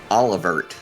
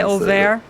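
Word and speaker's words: Oeilvert: Like a lot of us, I used to say like Olivert, which is definitely not how that's pronounced. I've gotten closer to the correct, I think, like kind of French kind of.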